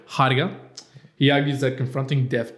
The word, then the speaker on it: Heidegger: How do you pronounce it? I think it's Heidegger. Heidegger.